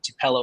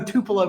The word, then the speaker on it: Tupelo: By the way, it's pronounced Tupelo. I can't believe you don't know Tupelo, Mississippi, Blake.